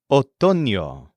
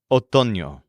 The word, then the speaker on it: otoño: The word for autumn or fall is otoño, spelled O-T-O-N-O, otoño.